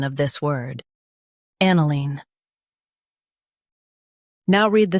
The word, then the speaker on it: aniline: an i line aniline Stress an and keep i-line light. an i line aniline Practice repeatedly and you'll soon be able to say this word perfectly.